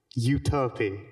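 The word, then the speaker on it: Euterpe: It is a utopy, is the right way to pronounce it, I'm fairly sure.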